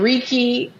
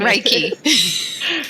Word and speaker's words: Reiki: practitioner MH and a Ricky level two practitioner I know Ricky I've heard of it before and I'm probably saying it wrong raiki or Ricky is which one raiki raik raik raiky practitioner